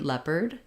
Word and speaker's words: leopard: then just an ERD so AR says ER in that word leopard um for cougar OU